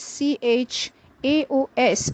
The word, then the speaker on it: chaos: repeated section of the song the words spelled c h a o s is pronounced as chaos which means complete disorder or